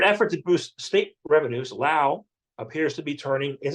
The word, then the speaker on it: Laos: want to call it it's pronounced Lao but people say Laos yeah uh the Le